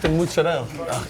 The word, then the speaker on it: mozzarella: It's mozzarella. Nice. And mozzarella.